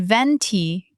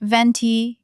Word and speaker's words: venti: Also, mispronouncing the sizes. It's grande, not grande, and venti, not venti.